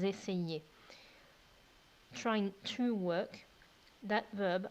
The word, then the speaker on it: essayaient: And then for the imperfect, the ending for they is AIENT, and that's pronounced ils essayaient.